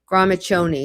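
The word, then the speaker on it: Gramiccioni: There it is, Gramachoni. Now, I don't know if he's pronouncing it correctly. That CCI should be a ch, but a lot of people pronounce it incorrectly as a Shoni or a Coney.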